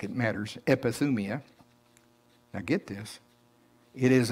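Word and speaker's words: ἐπιθυμία: it up in strong's it's g 1939 it's pronounced like it matters epithumia now get this it is a longing especially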